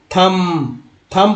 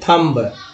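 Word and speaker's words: thumb: अब देखिए ये शकम पढ़ेंगे, थम पढ़ेंगे ना कि थम्ब, क्या पढ़ेंगे थम, आपका उठा है ना थम, तो ये थम पढ़ना है ना कि थम्ब पढ़ना है।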